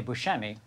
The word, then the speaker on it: Buscemi: the correct pronunciation if you were in sicily would be bushing but then so you know people say bushemi which is which is nice i i just grew up saying actually i grew up